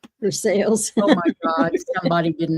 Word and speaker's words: Versailles: There is a Versailles in Kentucky, but it's pronounced Versailles. Versailles. Oh my god. Somebody didn't know how to pronounce. No, they didn't know how to say sales.